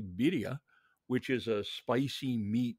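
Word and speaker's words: birria: adventurousness uh for example bira or to pronounce it correctly Bia which is a spicy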